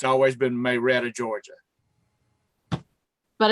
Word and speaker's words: Marietta: It's pronounced one way. Oh, Marietta, Georgia. It's Okay. not Marietta, Georgia. It's Marietta. Marietta? Marietta.